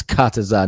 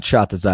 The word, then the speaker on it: Kataza: It's Kataza. Not Chhatza. If you can't pronounce it, you could just call me.